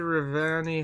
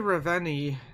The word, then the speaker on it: Ravenna: The bridge to Ravani has collapsed. The dead that attacked us. The bridge collapsed. The bridge to Ravenna. I've been pronouncing that very wrong.